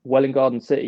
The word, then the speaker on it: Welwyn Garden City: that like yeah well in or where well well in garden city yes like 25 miles north of the center